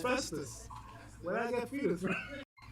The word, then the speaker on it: Festus: As Bro, is it Fetus? Festus. Oh, Festus?